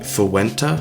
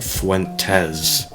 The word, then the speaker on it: Fuentes: named uh Nick Fu Fuenta. Sure that's how you Fuenta. I think that's how you uh pronounce his name. Only joking. We're going to be talking about Nick Fuentes today cuz he's easy